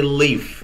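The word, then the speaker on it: Leif: leaf eriksen oh and how you how you pronounce it how they massacred his name in in american right now right that's what they're teaching us just say just say leaf no now it's yeah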